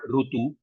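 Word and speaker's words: ऋतु: rut most of the South Indian languages we call rutu the North Indian languages people are calling it as Ru both the pronunciations are fine okay uh so either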